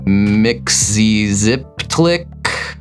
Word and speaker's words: Mxyzptlk: I know Mxyzptlk is how Matt pronounces the name. I think it in the cartoons we saw once it was pronounced Mxyziptlk or something.